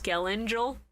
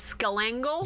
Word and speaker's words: Skelangel: Can I talk about how they blatantly mispronounced Skelangel as Skelangle?